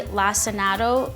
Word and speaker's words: lacinato: And so the best kale for this is the dark leafy lacinato kale, I think is how you pronounce it, as opposed to the ruffled sort of green leafy kale.